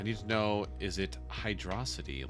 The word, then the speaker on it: Hydrocity: My instinct says it's hydrosity because it's one word, but if it's 2 words, it's Hydro City.